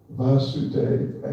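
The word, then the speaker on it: Vāsudeva: Vasudeva actually means the son of Vasudeva. Vasudeva with a long A means son of Vasudeva with a short A, which is a sort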